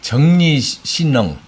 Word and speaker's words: 正力新能: 정리신능 우리 말로는 정력 신능인데 중국 발음은 정리신능이라는 이름은 생수한데요.